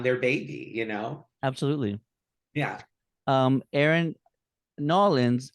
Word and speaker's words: New Orleans: Erynn, Nolans, I have to pronounce it Nolans because I was told to do that by locals when I last visited.